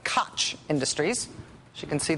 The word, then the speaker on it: Koch: Looks like Koch Industries, as you can see there, but it's actually pronounced Koch.